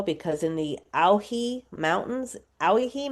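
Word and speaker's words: Owyhee: in the Ahi mountains, Aihi Mountains is spelled o wy h e.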